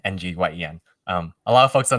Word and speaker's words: Nguyen: Wind sounds my last name Nguyen, Nguyen.